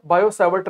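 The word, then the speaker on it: Biot–Savart: बायो सेवर्ट दो अलग अलग व्यक्ति हैं, दो अलग अलग साइंटिस्ट हैं, इसमें टी साइलेंट है, बायो सेवर्ट लॉ।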